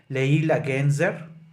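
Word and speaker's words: Leyla Gencer: or I read that the right pronunciation so people in Turkey you are free to correct me should be like Leila genzer the right way to pronounce her last name uh to start with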